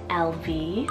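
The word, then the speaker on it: Elvie: Irish names here is LV spell e-l-v-i-e-l-v it's so cute it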